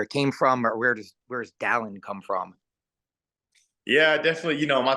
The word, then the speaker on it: Dallin: Is Dallin. No one can pronounce it whenever I leave Utah.